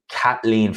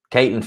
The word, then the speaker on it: Caitlin: No, it's Kathleen Phelan. I got her name wrong once. And Mark Unrivaled corrected me. Caitlin Phelan. That's her name.